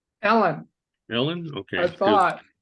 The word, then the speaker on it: Eilen: nope well that's so interesting how do you pronounce that first name Ellen Ellen okay because it's e l n is